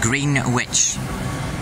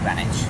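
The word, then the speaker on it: Greenwich: which is going to green witch that is grenwich if you're from the UK you pronounce it grenwich it's green witch I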